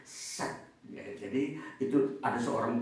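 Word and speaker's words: Shedd: ini teori realistik daripada set eh s h e d d jadi bacanya set ya jadi itu ada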